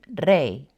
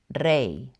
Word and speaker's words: rey: When it's at the end of a word, it's always going to be used as a vowel, like in rey, pronounced I, rey.